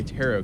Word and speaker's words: tarot: And by the way, I learned how to say tarot card now. Apparently, it's not pronounced like carrot.